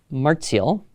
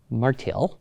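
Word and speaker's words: Martial: first century Roman poet martiel or marel depending how you pronounce your Latin and there are many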